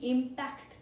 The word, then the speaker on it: impact: Impact. First pronunciation is impact. Impact. It is a noun because of the first syllable.